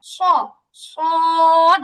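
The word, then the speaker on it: ص: সদ। একটু চড়ুই পাখির মধ্যে একটু চেউ চেউ আওয়াজ থাকে এর মধ্যে।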